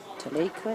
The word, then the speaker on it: Talacre: Talacre is how to pronounce it properly in local dialect.